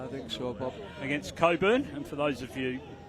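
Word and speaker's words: Cockburn: Against Coburn, and for those of you listening nationally, the CK in Coburn is silent, which is a great relief to us all, really.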